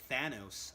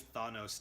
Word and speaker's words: Thanos: the movie she's like Thanos I was like oh okay I've been pronouncing around this whole time so I've switched over it's always thought nose to me but yeah so